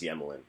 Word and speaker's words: Emelin: Also, I feel like we need to clarify, like, I always go with Emelin, but the broadcast last night was calling him Yemelin. Yeah, I think the Russian pronunciation is Yemelin.